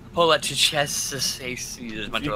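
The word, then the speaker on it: poliziotteschi: Anyway, it's not Polizia. It's Polizieschi.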